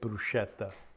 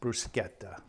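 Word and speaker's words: bruschetta: it becomes brusketa um a lot of people pronounce it brushetta uh in correct if it were an English word that would be the way to pronounce it but as an Italian word um uh it's pronounced bruetta a h sound and very flavorful Dave brought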